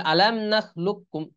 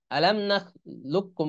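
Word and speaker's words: أَلَمْ نَخْلُقْكُمْ: তাহলে উচ্চারণ আসতেছে মাল্লা ইউহিব্বু, আর একটা হলো আলাম নাখলুককুম, লুক্কুম, কফের উচ্চারণ কিন্তু আসতেছে না, কাফের উচ্চারণ আসতেছে।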